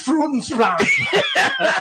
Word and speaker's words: Frudensprung: Say it correctly, Roger. Yeah. Say it the way it's It's Frudensprung. That's it.